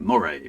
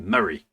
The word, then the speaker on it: Moray: I've got to pronounce that right because I was pronouncing it Moray because that sounds kind of cool. But that's not how anybody up here pronounces it. They pronounce it Murray.